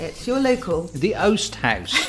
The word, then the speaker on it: Oast House: The Oast House. The Oast House. Yeah. What do you keep saying? I keep saying the Oust House.